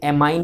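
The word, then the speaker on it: amine: Secondary suffix में इनको अपन एज ए एमाइन he pronounce करते हैं। कई इसको एमीन बोलते हैं, वो एक ही बात है बच्चों, एमाइन या एमीन, ठीक है ना।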